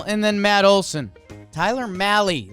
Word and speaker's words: Mahle: Tyler Mahle rhymes with rally.